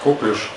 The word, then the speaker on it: коклюш: Вот кто-то говорит коклюш. Ну, это правильнее говорить на второй слог ударение.